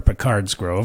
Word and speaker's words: Picard's Grove: having grown up near p-cards Grove our Picard's Grove I think as its properly pronounced and I was kind